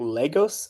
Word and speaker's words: Lagos: I always say it wrong. Lagos, I believe, is the correct pronunciation, but don't quote me on that.